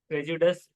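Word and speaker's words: prejudice: तो प्रेजुडस उसका प्रोनाउंसिएशन निकलेगा प्रेजुडस।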